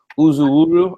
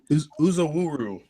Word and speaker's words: Uzowuru: I really like uh Michael Uzu wuru I'm pronouncing it right right yep yep okay cool us a wuru yep yep got it all okay yeah we were